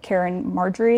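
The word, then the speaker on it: Caryn Marjorie: I did coverage on like CarynAI, and I know you know like Karen Marjorie, is how you say her name.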